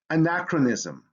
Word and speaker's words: anachronism: has that long sound in words derived from greek ch makes the sound anachronism dichotomy synchronous so you